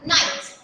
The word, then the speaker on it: Knights: Group, जिसको कहा गया नाइट्स। ओके, इसमें KNIGHTS में K साइलेंट है। ओके, तो इसको ध्यान से प्रोनाउंस करेंगे सभी।